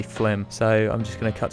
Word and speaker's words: Flim: that I always mispronounce it looks like it should be filmed just in my defense here I was gonna say film but it's actually flim so I'm just gonna